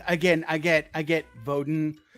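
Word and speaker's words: Woden: I get I get voden right so like V or or or like actually it's w pronounced as a v w o d i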